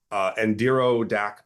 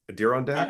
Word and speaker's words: Adirondack: their respective Native American culture, specifically from the, I want to make sure I pronounce this correctly too, Adirondack Mountains. Adirondack, I think Yeah. it is. Adirondack.